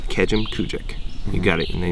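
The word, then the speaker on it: Kejimkujik: Start with Kejim and then finish with Kujik. So Kejim Kujik. It's pretty. It's you know, it's not Kejim Kujik.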